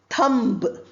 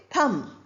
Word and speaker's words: thumb: We don't say thumb. B is not pronounced. We say thumb.